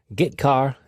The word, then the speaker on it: getchar: The 2 most common C language character I/O functions are getChar and putChar. That's how I pronounce them.